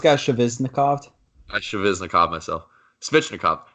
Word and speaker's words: Svechnikov: Svechnikov.